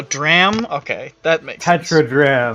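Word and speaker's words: tetradrachm: Oh, it's pronounced Those all dram. Oh, dram? Okay, that makes sense. Tetradram. Tetradram.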